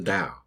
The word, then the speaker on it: Dao: the philosophy of the dao so let's think about that so here's the original chinese characters and they're pronounced dao now up here we